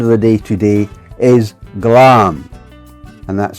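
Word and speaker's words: glaum: The Scottish word of the day today is glam. And that's spelled G L A U M. Pronounced glam.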